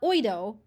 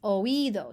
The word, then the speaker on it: oído: It's not oído, it's oído. So you put the accent on there.